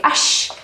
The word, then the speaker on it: až: adverb by the way ash as well as ush is pronounced with sh at the end when it works as